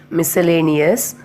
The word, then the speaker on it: miscellaneous: Next, miscellaneous. Next, fascinate. So the rule 1, C is not pronounced after the letter S and also in the combination of SC.